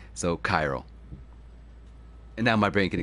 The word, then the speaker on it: chiral: And chaos and a few others that are Greek in origin start with the CH sounds like a K. And if you look at the original spelling of chiral, it is with a K. It's a K-H, which they just changed